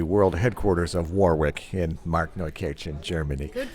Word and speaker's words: Markneukirchen: I should mention we happen to be in the world headquarters of Warwick in Markneukirchen, Germany. Good pronunciation. Warwick, did I say? Did you say famous? Right. There you go. Markneukirchen.